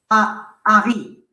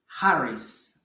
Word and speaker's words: Harris: Harry. En anglais, on prononce Harris en anglais, non? Harris en anglais. En français, Harry, non?